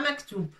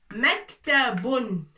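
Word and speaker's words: مكتب: C'est pas maktoub. Pourquoi? Parce qu'il n'y a pas le waouh. Ici, il n'y a pas de waouh. Vous voyez? Il n'y a pas waouh ici. Maktoub, ça s'écrit comme ça. Alors, puisqu'il n'y a pas waouh, on ne peut pas dire maktoub.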